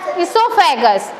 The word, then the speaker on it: esophagus: Okay, yes, esophagus. Okay, food pipe is also known as what? Esophagus. What is the pronunciation?